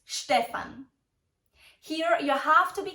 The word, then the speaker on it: Stefan: Stefan Stefan IA did you hear the right pronunciation of this typical German name it's Stefan here you have to be careful with the